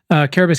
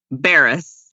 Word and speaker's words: Cabarrus: Caribas County is a perfect example of what we're fighting for.